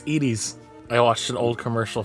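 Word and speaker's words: Edy's: initially opened in 1990 is it edies or Edy it's edies I watched an old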